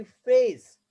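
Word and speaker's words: face: पे साइलेंट ई हो, जैसे कि फेस, ई का साउंड यहाँ पे नहीं बोला गया, ओनली ए।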